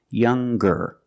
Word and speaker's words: younger: sound the hard G so it's younger G with a G sound stronger the youngest again